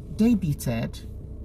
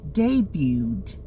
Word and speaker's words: debuted: Do you say debuted? No. You should say debuted. The T is silent here.